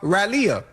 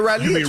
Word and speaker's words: Raleigh: I've been to uh Raleia. I've been to Raleigh.